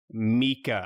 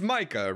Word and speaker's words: Micah: he's a bad dude his name is mika yeah it's micah right it's yeah it should be micah it's spelled micah yeah